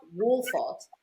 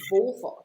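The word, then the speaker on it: Wolvaardt: So even things like that, basically, and it's not Wolfart, it's Wolfart. It's actually quite a hard W.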